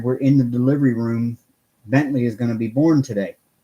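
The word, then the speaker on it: Bentleigh: I but nice and Bentley with the Ellie IgH but yeah it's pronounced like the car yeah Mickey that is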